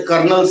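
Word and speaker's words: colonel: जैसे कर्नल शब्द को हम तो कर्नल लिखते हैं ना, हम लिखते हैं कर्नल, लेकिन इसकी स्पेलिंग CONOLEL होता है।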